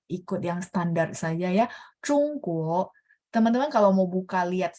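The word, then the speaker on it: 中国: Oke, Zhongguo, guo ada dua ya. Zhongguo. Jadi ZH confirm tidak ada angin, bacanya bersih ya.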